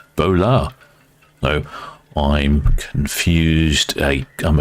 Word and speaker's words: Bolette: your horns smelly dashan says ble is not pronounced ble it's pronounced bolet if it was ble in French it would